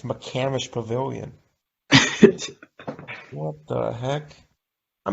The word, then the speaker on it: McCamish: this chain this like changed my life it's mccamish pavilion what the heck i mean something you've